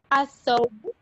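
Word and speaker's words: الثوب: Lam is silent. Al-thawbu.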